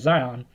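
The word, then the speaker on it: Zajonc: And this research has been performed by Zion in 1968. No, I didn't spell his name wrong. That's how it's spelled, and it's pronounced as Zion.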